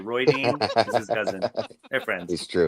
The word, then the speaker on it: Rhuidean: It's like Roy Dean is his cousin. They're friends. It's true. Oh, Roy Dean, like Suan. Roy Dean. Yeah, like Suan. They pronounce it Roy Dean.